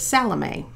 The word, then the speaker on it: Salome: to Google it to make sure I could pronounce it properly since I was going to be speaking to you. Her name is Salome.